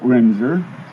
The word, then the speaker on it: Winzer: My name is Winzer, and that's spelled W-I-N-Z-E-R.